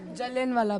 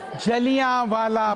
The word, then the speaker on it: जलियांवाला: जलियांवाला बाग। जलियांवाला बाग। जलियांवाला, तो इसलिए उच्चारण बिल्कुल सही होना चाहिए, पूछ लेना चाहिए, इंग्लिश में पढ़ें तो, क्योंकि स्पेलिंग का थोड़ा फर्क पड़ जाता है।